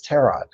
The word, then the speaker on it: tarot: think you know what you're talking about it's Tarot and I know because I read them I